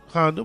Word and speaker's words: Honda: In Honda, Colombia, Honda, which rhymes with Anaconda, a woman inserted a